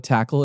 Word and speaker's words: TAKL: called tackle now for those not familiar with tackle it spelled takl not like how you would normally spell it but you know they had obviously they